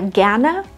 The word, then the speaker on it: gern: ist mit gern oder gerne der Stammvokal ist kurz gern das R nach kurzen Vokalen wird zwar standardsprachlich ausgesprochen aber es ist kaum hörbar das kannst du gern